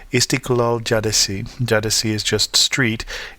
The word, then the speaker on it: Caddesi: a street called Istiklal Caddesi. Caddesi is just street. It starts with a C because the C in Turkish is pronounced as a J.